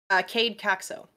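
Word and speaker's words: Kaede Caxo: Cade Caxo. Caxo. Just gonna make sure that I pronounce that.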